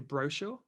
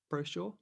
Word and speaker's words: brochure: I think I'd say brochure. Brochure.